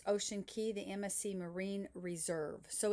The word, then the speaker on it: Ocean Cay: And I'm combining two days because we have two days at Ocean Key or you may pronounce it ocean k a y but the real pronunciation of c a y is key.